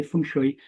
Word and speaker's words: feng shui: I say feng shui, which is close to the Cantonese, but I mean, I'm no speaker of Chinese.